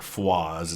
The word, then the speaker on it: Foy: very famous attack on Foy or foes it's pronounced over there in Belgium they show an